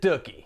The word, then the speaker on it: Dookie: major and put out dookie that's right I pronounce it ducky like cookie with a d it's what a cookie